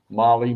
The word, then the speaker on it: mole: again on this mole Molly Mole whatever you want to call it well someone said you pronounce it as whole like oh okay Mole Hole all right uh that was